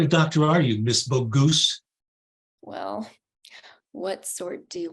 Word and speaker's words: Bogus: Bogus. Oh, it's Bogoose, Mr. Weasel. It rhymes with goose.